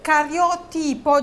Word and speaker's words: cariotipo: ho 39 anni e Cario tipo giusto si pronuncia così cariotipo cariotipo normale Mio marito